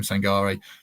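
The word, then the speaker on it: Sangaré: then uh Ibrahim sangarei apparently I said it wrong at the start uh I Googled it quickly after someone pointed it out to me so Ibrahim sangarei 25 year old PSV midfielder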